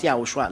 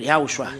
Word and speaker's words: YAHOSHUAH: It's good then if you pronounce YAHOSHUAH, not Jesus, but YAHOSHUAH.